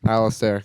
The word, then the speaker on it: Alistair: How are we officially pronouncing the band name today? Alistair. Yeah, it's with an I. Okay. So Alistair.